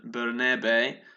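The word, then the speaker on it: Bernabé: And I've been told that is the correct pronunciation, Bernabe, because he's Catalan. So that's what my missus told me.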